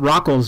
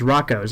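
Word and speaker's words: Rocko's: and repetitive and annoying rocco's modern life is pretty perverted and this takes us to number four as rocco's modern life is perverted but it's not rockl's modern life it's rocco's i mean maybe i'm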